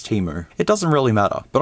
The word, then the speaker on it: Temu: Teemo however it's pronounced I thought it was TAMU but people told me it's Teemo it doesn't really matter